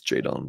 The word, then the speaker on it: Jadon: Blair um I think it's actually for our pronunciation King over here Jon I think he it's jayon Blair from Winston s North